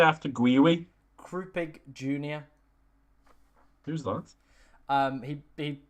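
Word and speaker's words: Guiu: People are telling me it's pronounced Gui.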